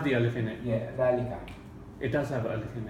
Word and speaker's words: ذلك: But I'll put the alif there just to show you how it's pronounced. Okay. Oh, but it ذلك. doesn't have the alif in it. Yeah, ذلك.